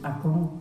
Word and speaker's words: Akön: in retrospect the first Akong. It was actually not the first at the time, it was just Akong. The name itself is written Akön, but his parents always pronounced it Akong, and it remained as Akong.